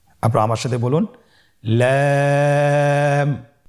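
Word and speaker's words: لام: লাম হরফটি উচ্চারণের ক্ষেত্রে অবশ্যই বারিক হবে এবং তিন আলিফ টেনে পড়তে হবে। আপনারা আমার সাথে বলুন লাম। লাম হরফটির মাখরাজ হলো জিহ্বার আগার কিনারা উপরের দাঁতের মাড়ির সঙ্গে লাগিয়ে উচ্চারিত হয়।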